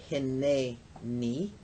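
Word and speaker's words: הִנֵּנִי: So hine ni, which comes to be pronounced hineni.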